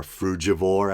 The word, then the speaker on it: frugivore: omnivorous, or then there's the term frugivore or frugivore, as I've heard some pronounce it.